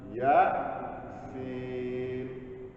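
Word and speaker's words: يس: Bacanya apa Pak? Yasa. Ya, sin.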